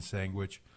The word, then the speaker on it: sandwich: Yes, I do pronounce the G in sandwich. That's the hidden G. You don't really see it, but you pronounce it.